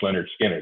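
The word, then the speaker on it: Lynyrd Skynyrd: I mean, Leonard Skinner, when they released Pronounced Leonard Skinner, that was a great album.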